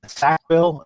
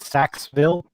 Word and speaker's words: Sackville: By the way, for Tim Rial, Tim Rial, just to confirm with him, it is pronounced Sackville, not Saxville.